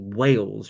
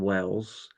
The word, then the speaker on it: Wales: I always have to make sure I pronounce it correctly, Wales rather than Wells, because Wells is a city in Somerset.